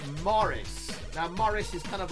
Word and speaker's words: Moritz: wrong I what how when I say it sounds like Morris now Morris is kind